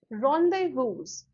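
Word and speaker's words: rendezvous: इसको कैसे प्रोनाउंस करोगे आप? What is this called? रॉन्डेवूज, ठीक है। रॉन्डेवू, इसका मतलब होता है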